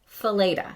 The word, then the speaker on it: Fileta: know you know how everybody gets my last name wrong you probably don't know this because you don't get it wrong but my last name is feda so feda and um it's funny